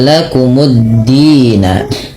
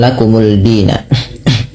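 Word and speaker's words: لَكُمُ الدِّينَ: Ke dal, dimasukkan ke dal, lamnya tidak ada lagi sehingga dalnya tasydid. Maka menjadi lakumuddina. Lakumuddina, bukan lakumuldina.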